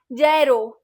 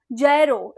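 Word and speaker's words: gyro: प्रोक्सिसली tell that that is the wrong pronunciation this is ये जी is silent ये वो इट्स a sandwich not अ फिजेड spinner या जरो इट इज नॉट अ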